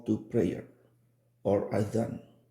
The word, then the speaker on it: adhan: Today we'll be talking about the call to prayer or adhan, sometimes pronounced azan.